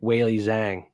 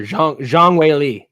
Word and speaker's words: Zhang Weili: the women's underdog here, Weili Zhang. We're going 5 for 5 with Sursurkayev, Wellmaker, Nickel, Makhachev, Weili, or Zhang Weili is how you say it properly, not Weili Zhang.